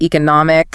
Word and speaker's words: economic: And another one words ending in adock like academic economics. Let me guess. Stress before the I, academic, economic.